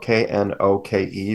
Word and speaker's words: Knoke: His last name is spelled Knoke for those that are not looking at the YouTube.